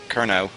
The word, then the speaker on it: Kernow: So Kernow, I got to pronounce that right. I should, because I'm the test driver for the team. I was just calling him Kenrow at the start of the season.